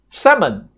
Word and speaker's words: salmon: Salmon. Salmon, right? The L L is silent, right?